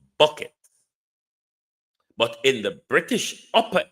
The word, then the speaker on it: Bucket: You know in Britain it I in the natural world it would pronounce bucket but in the British upper echelons it pron it's pronounced bouet.